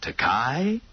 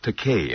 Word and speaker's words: Takei: By the way, George, how do you pronounce your last name? Is it Takei? This is a frequent mispronunciation of my name. No, it's pronounced Takei, I corrected. It rhymes with okay.